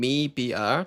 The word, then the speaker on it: MIBR: It's cuz I was talking to um I think it was um the crew the GC crew coach uh baby. She's Brazilian and she kept saying mebr to me and I